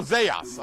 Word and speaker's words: Zayas: I said Zayas. Did I incorrectly pronounce that? I think it's Zayas. Oh, Zayas. Okay.